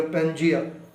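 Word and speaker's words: Pangaea: अगर प्रोनाउंसिएशन सही कर, पेंजिया।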